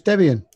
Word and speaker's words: Debian: very usual it was it's based around Deb and be in two people so it's Debian okay so I will